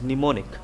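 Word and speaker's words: mnemonics: मैं मनेमोनिक्स लिखूंगा ब बट अगर मैं इस वर्ड को प्रोनाउंस करूं तो मैं इसको प्रोनाउंस करूंगा एज निमोनिक so here the एम E silent निमोनिक्स ठीक है एन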